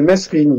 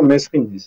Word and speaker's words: Mesrine: J'ai bien connu François Bess, il disait Mesrine. Ouais, c'est ça. Grand aussi, c'est comme ça qu'il l'appelait. Tout à fait. Et il disait Mesrine. C'était rare qu'il prononce son nom, il disait généralement Le Grand. Le Grand, ouais. Mais quand il disait son nom, c'était effectivement Mesrine. C'est Mesrine.